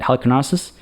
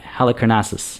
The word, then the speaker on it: Halicarnassus: We could do the mausoleum at Halicarnassus. Wow, I butchered that pronunciation. The mausoleum at Halicarnassus. I think that's closer.